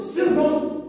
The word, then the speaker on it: second: en français nous avons second second alors nous avons que hein que non pas c ça c'est que se prononce que second c'est un élève